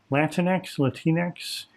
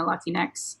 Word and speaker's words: Latinx: Is Latinx? I say Latinx, so Latinx, but that's like pronouncing it with the Spanish vowels.